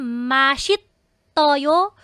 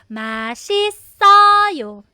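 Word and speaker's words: 맛있어요: po lipat din kayo So ano yung basa nito masis mas mas so yan ang tamang reading So hindi na yan masit toyo or Mati toyo Ah hindi po no masis sawo Kasi nag-akyat bahay na tayo nagre silab fication na tayo Don't forget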